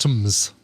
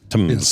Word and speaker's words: TMS: Pronounced Tums. Tums.